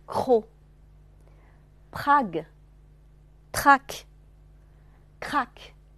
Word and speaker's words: croc: tresse, crèche, prose, trop, croc. 这个词的 c 不发音，然后因为是开音节了，所以 o 就发成闭口的 o 了啊，不